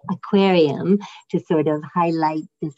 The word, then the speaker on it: Hackuarium: Public Lab Hackuarium, or in the French pronunciation we say aquarium, to sort of highlight